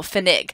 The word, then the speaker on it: Pfennig: in enough, and then there's some words, very few, but there are some in English that have a PF beginning, and we give that sound an F, so Pfennig, basically, which is a German word where the word penny came from.